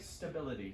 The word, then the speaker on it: stability: No, Try to suppress that E. Economic stability. Because we tend to mention the E. Of course, right? Because that's how y'all say especial and España and all that, right?